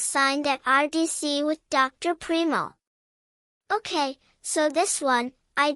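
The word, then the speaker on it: Primeau: Primo. Is that how? Yes. That's spelled P-R-I-M-E-U.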